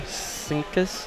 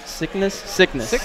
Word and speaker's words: Syknis: And let's see, Rosalina, how do you say that name? Syknis. Syknis.